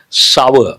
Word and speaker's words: sour: Sour, not sore.